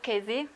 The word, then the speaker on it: Chesi: I'm Chesi, actually. This is the pronunciation of my surname.